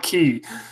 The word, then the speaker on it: Cay: juggernaut Dumbo please Kerala Kerala key but it's spelled did you see spelled key a why I'm sure I surely